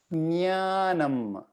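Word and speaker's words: ज्ञानम्: do yoga group nyanam so even though they say j sound um yeah unfortunately the pronunciation is not j sound the reason i put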